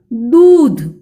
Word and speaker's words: दूध: उच्चारण कैसे होगा देखो दूध। देखो बच्चों उच्चारण दीर्घ है, द का उच्चारण दू ऐसे करना है, दू ऐसे नहीं करना है, दूध।